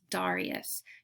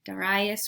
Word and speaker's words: Darius: The Persian king was Darius III, or you might hear his name pronounced Darius. Darius or Darius, both are correct.